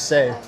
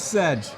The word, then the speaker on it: Sedge: Sedge is Say. You pronounce it Say.